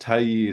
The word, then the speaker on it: Tai Yi: Yeah, it's it's pronounced Taii.